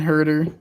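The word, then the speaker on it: Huerter: still go green over Horder yeah now maybe I'm wrong it is Kevin herder Jesus I say it wrong all the time then but I think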